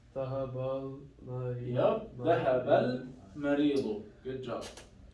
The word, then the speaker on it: المريض: Here there is no shadda, then we have to pronounce the lam. Zahab al-Marid.